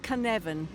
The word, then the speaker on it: Cynefin: Now, you play as Cynefin. Am I pronouncing that properly? You're pronouncing it perfectly, yes. Excellent. That's what I like to hear. Great. And what is that Welsh? Yeah, so Cynefin, it doesn't really have a direct translation into